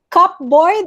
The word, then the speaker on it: cupboard: Cupboard, it's not cupboard, it's cupboard. Sabi niya. Cupboard. Cupboard. Yan. Okay. So, cupboard. Silent P. You don't pronounce.